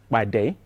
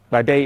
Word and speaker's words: Padé: new software project called Padé. Now, Padé is a Yoruba name, and when you pronounce P in the Yoruba language, it has to sound explosively.